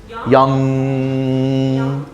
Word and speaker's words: young: But don't say g at the end. It is young.